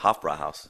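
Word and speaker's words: Hofbräuhaus: Hofbrauhaus.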